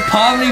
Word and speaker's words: Pomni: Starts with POM, rhymes with OMNI. POM. Are you trolling? Oh, wait a minute. Is this, it's POMNI. It is POMNI for the Amazing Digital Circus.